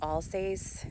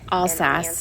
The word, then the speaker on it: Alsace: it's like i mentioned i know i'm saying it wrong but they mentioned all says is how i say it in france all sas history because i've done